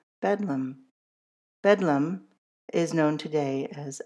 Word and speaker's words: Bedlam: The name soon shortened colloquially to Betham which thanks in part to the schwah saw a change in pronunciation to bedum.